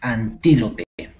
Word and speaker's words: antílope: antílope antílope antíope antílope antílope con tilde en la i entonces allí damos la mayor fuerza de voz antílope muy bien entonces este